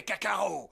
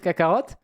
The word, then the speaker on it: Kakarot: Oui, il dit Saiyan et il veut dire Kakarot, il dit Kakarot. Oh, Parce que du coup, on dit à la française, on prononce pas le T.